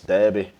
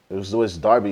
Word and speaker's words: Derby: minutes man Manchester V Debby Derby is how you say it actually BR vers Manning this